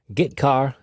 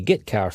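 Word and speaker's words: getchar: character IO functions are gitar and putar that's how I pronounce them gitar fetches a character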